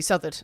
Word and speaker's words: Southard: Depending on how you're pronouncing these things. Well, correctly would be Southard.